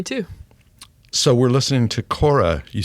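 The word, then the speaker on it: Kore: So, we're listening to Kora. You said that's how you pronounce it.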